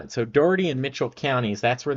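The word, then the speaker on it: Dougherty: pronounce there um um Doherty is that how it is yeah Doherty dirty I finally got it so Doherty and Mitchell counties that's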